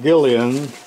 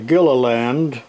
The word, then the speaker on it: Gilliland: extremely heavy package from Ron Gillian or I should say Gilliland it's hard to pronounce name but thank you Ron